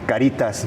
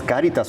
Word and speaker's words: Cáritas: Entonces, es una palabra que viene de latín y es caridad tal cual porque muchas veces confunden caritas, ¿no? Ay, caritas no es cáritas con acento en la por caridad que viene traduciéndose en amor tal cual, literal.